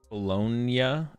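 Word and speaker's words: Bologna: before Milwaukee sometime was pronounced like the sandwich meat it's literally bolognia it's l pronounced like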